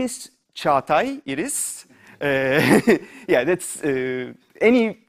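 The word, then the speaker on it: Çağatay: PhD thesis for defense so my name is Chuck I it is yeah that's any pronunciation is welcomed yeah but it's be fun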